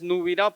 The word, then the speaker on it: Nupirao: Nubirao se escribe con Nupirao, pero la pronunciación es Nubirao porque pues también tiene nuestra estructura, el alfabeto tiene una